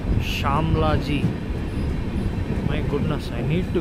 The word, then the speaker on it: Shamlaji: For reasons unknown to even myself, I don't know why I had been pronouncing this station's name as Shamalji instead of Shamlaji.